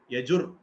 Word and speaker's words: யஜுர்: அது தப்பு இல்லை. யஜுர் சொன்னாலும் சரிதான், யஜுஸ் சொன்னாலும் சரிதான்.